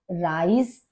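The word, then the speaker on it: Reis: अब यहां पर देखिए ई आई राइस और यहाँ पर RICE राइस, लगभग एक जैसा सा प्रोनाउंसिएशन है हमारा, लेकिन स्पेलिंग दोनों की डिफरेंट है।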